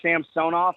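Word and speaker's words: Samsonov: when they were here he was Sam sonoff in Washington now he's Samson off in Toronto it's just one of those things the French pronunciation okay that's fine now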